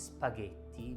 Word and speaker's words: spaghetti: or singular e plural g plus h is the sound g so the doubter it is pronounced spaghetti or spaghetti it is spaghetti because g blue plus